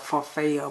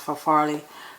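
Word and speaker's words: farfalle: uh farfet for Folly I always call it for fail but it's I think it's pronounced for Farley noodles and I like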